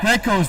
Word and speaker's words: Griquas: The Griquas, no? What? Is it the Griquas, no? Griquas, that's it.